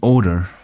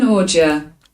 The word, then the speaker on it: ordure: the gall, making the odor exhale, making the odor exhale. I'm not sure this is pronounced exhale.